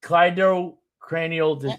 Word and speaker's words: cleidocranial: I never pronounce it right. Yes, it's cleidocranial.